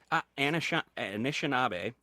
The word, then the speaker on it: Anishinaabe: Anna Oh, Sandy, you're going to have to pronounce that the right way. Anishinaabe. Anishinaabe reconciliation facilitator on Tuesday, July 29th at 7 p.m.